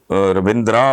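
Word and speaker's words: Ravindra: Spelling بول رہا ہوں، رویندرا ویسے لکھتے ہیں لیکن پڑھنے میں رویندر، جیسے جتیندر، جو اینڈ پہ آتا ہے نا وہ بس نہ ہونے کے، دھرمیندر، ہلکا سا وہ آتا ہے اس طرح کر کے.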